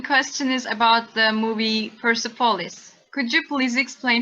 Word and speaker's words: Persepolis: wrote two books called persepolis that's the way i pronounce it probably not correctly not the way you would pronounce it in farsi probably but persepolis one and